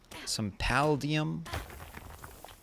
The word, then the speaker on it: Paldium: Yeah, get some paldium. Paldium. That's how you pronounce it.